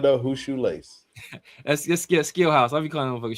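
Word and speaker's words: Scheelhaase: Skill House. It's a crazy spell that.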